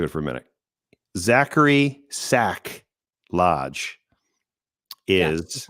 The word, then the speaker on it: Sack: Today I learned that the name is Sack. I always thought it was Zach, but mispronounced for humorous purposes.